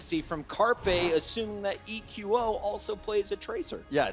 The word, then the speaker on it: EQO: That is EQO. I asked him, how do you want your name pronounced? Take this note, Reddit. It is EQO, 3 letters to say his name.